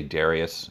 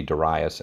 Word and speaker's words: Darius: darius king of persia again i say darius it could be darius i've heard it pronounced both ways i'm just going to say darius for lack of anything exact but we have this